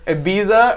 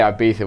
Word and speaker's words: Ibiza: You moved to Ibiza when you were. Is it proper Ibiza or Ibiza? Like I don't know. I'm English, so we always say Ibiza, which is definitely wrong. It's actually Ibiza.